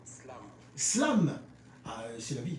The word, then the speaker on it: SLVM: Alors, comment se prononce votre nom d'artiste? Parce que j'avoue que j'ai eu du mal. Il y a un S, il y a un L, il y a un V, il y a un M. Et comment on va prononcer ça? Tout simplement Slam.